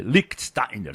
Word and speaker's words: Lichtsteiner: O Lichtsteiner faz parte do lado alemão, e segundo o meu professor Gerd Wenzel, a pronúncia é Lichtsteiner, Salgueiro.